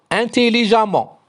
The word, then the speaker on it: intelligemment: E-2-M-E-N-T, amant, s'écrit avec E-2-M-E-N-T, mais se prononce amant, intelligemment.